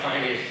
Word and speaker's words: Pliny: Technically it's Plin - Nee (pronunciation) but it's somehow along the way became Pline - Nee (pronunciation).